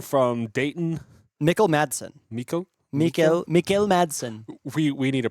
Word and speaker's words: Mikkel Madsen: Next, Mikael Madison from Dayton. Mikkel Madsen. Mikkel Madsen. We need a pronounce sheet.